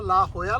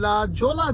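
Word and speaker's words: La Jolla: काय जे प्रोनान्स ह आणि डबल एल प्रोनान्स य आणखी एक्झाम्पल तुम्हाला आठवत का म जे प्रो्स सांगा सर तुम्हाला लक्षात असेल सन होजे करेक्ट अच्छा अच्छा अच्छा अच्छा कारण त्याच्याही स्पेलिंग मध्ये जेओ एस आहे पण आपण म्हणतो सन होजे नॉट जोजे कारण तुम्ही लोक मला सांगत होता ला होयाला ला जायचंय आणि म्हणलं दिसताना तरी लाजोला दिसतय हे काय नाटक आहे आता कळलं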